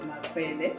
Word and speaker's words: Makwele: So my guest name is Rabecca Makwele Mulenga, and I hope I pronounced Makwele right, because I feel like I'm pronouncing it like that's actually very okay. You said it very well, Makwele Mulenga.